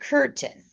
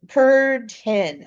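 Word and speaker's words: Kürten: And I want to do Peter Curten. Uh Kurten. I can't say it right. Not like a curtain, like a drapery, but ken.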